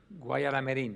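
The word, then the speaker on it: Guayaramerín: I don't know that I can pronounce it the same way as you, but it's Gaya Aramerin. That's how I say it. How do you say it? Guayaramerin.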